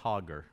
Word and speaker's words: Hagar: She Hagar is left with water and food for about two days in the desert and Abraham leaves her. She is praying and they pronounce her name Hoger.